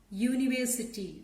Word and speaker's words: university: The word is beginning with a vowel letter, but it has a consonant sound. It is beginning with a consonant sound U. It is beginning with the sound of a consonant letter Y. University.